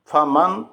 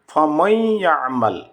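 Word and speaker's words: فَمَن يَعْمَلْ: যেমন দেখুন ফমাইয়া আমাল, ফমাই, ফা জবর ফা, মিম নুন জবর মান, ফা মান। তারপরে ইয়া আসছে, এখানে ফমান উচ্চারণ করলে হবে না, এখানে হবে উচ্চারণ করতে হবে ফমাই, ফমাইয়া আমাল, ঈদগামে বিল গুন্না, ফমাইয়া আমাল।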